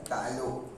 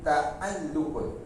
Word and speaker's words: taalluk: ada saya tulis ya takluk bab taalluk taam tauk bunyinya tauk Melayu sebut takluk takuk tapi ejaan Arabnya bunyi taalluk baik itu makna takluk